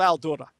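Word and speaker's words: Al-Doura: There's a documentary called The Dark Side of Al-Dura. And the dark side of Al-Dura, Al-Dura is an Arabic word. It's spelled in the English phoneticization A-L-D-O-U-R-A. A-L-D-O-U-R-A.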